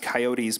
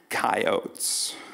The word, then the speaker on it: coyotes: when he did this he pronounced coyotes pointedly with two syllables coyotes thank you we could